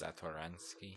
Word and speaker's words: Satoransky: I don't get why that's Satoransky.